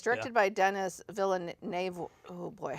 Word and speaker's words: Villeneuve: And it's directed by Denis Villeneuve.